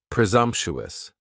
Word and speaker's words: presumptuous: And presumptuous has four syllables. And the stress is on that second syllable. And the S almost sounds a little more like a Z. Presumptuous.